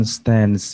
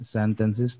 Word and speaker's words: sentences: Ya, bacanya itu bukan stance ya, tapi sentences. Kalau dia pakai S, bacanya sentences, tapi kalau dia nggak pakai S jadi sentence, bukan stand.